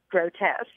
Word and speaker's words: grotesque: oh that is grotesque not realizing that the word was actually pronounced grotesque oh no I think